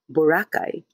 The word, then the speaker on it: Boracay: Miss Gorgeous is asking for my thoughts on Filipino saying Borakai the way foreigners mostly Americans say it with a first syllable stress instead of pronouncing it the way the locals do Bacay. Borakay.